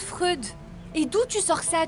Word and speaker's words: Freud: Ça se prononce Freud.